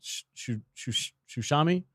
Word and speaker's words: Tsushima: I'm playing Ghost of Tsushima, I think is how you say it.